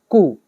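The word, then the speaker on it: coup: आगे देखो द जटाज़ 2021 कु। यहां पे पहले ये वर्ड याद करो। इसको बोलते हैं कु। इसमें पी साइलेंट होता है। कु बोला जाता है।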